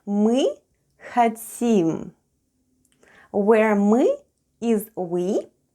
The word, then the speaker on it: мы: Let's have a look at the spelling of the word "мы" or "we." The first sound is "m" and then goes "ы." Try saying "e" while pushing the tongue to the back of your mouth.